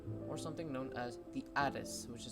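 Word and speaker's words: ATIS: air traffic controller or something known as the addis which is spelled as a t i s this works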